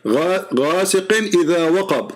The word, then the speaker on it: غاسق إذا وقب: Say it correctly. غاسق إذا وقب.